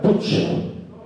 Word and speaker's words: Puig: Y eso lo dice Martín Alonso Puig, y en catalán se pronuncia Puig, ¿no?